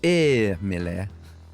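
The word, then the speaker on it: Émile: like you would pronounce the E if it has an accent. There's something to it. Emile.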